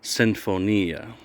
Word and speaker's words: Sinfonia: It's an Italian word. They pronounce it, I'm going to try and do my best, Sinfonia. And Sinfonia, it's Italian for symphony.